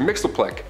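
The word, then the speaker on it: Mxyzptlk: His real name doesn't even translate into Earth's languages, but we collectively pronounce it as Mr. Mixleplick.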